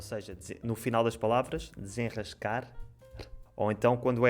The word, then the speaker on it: desenrascar: E vocês também têm esse R depois de um som nasal, não é? Como é que tu dizes desenrascar? Desenrascar. Ra. Exato. Continua ra. Desenrascar.